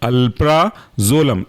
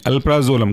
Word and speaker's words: अल्प्राजोलम: example है आपका व है अल्फ्रा जोला म अल्प्राजोलम ए एल पी आर A alpha और जोलम जेड ओ एल ए एम अल्प्राजोलम काफी इंपॉर्टेंट ड्रग है अल्प्राजोलम के बाद नेक्स्ट